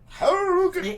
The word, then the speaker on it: Hurricane: Ann says, hey, Harukin has a great Walmart. Just saying. Oh, my goodness. Harukin. I just... What? I can't. Oh, and I was talking to somebody the other day about Hurricane. Harukin.